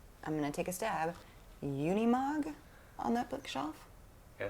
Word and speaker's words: Unimog: that a matchbox i'm gonna take a stab unimog on that bookshelf yeah i think that's right did i say it right yeah unimog yeah what's that he was talking about this